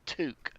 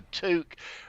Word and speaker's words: toque: Ben calls them a toque yep t-o-q-u-e it's like torque with FDR but it's not toke it's two some people spell it